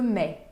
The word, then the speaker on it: mets: Je mets, termina com TS, não se pronunciam nem o T nem o S. Je mets.